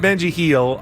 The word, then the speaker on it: Benji Gil: how do you pronounce Benji Gill's name Robert I would say Benji Gil but you know Mexican people are just gonna say he that's what I've been I've been saying Benji heel I don't I don't